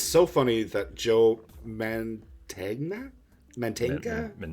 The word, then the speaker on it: Mantegna: Mantegna?